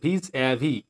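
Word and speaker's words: vis-à-vis: দেখো ভিজ অ্যাভি, উচ্চারণ ভিজ অ্যাভি, ভিজ অ্যাভিস না কিন্তু ভিজ অ্যাভি মিনস মুখোমুখি, ফেস টু ফেস।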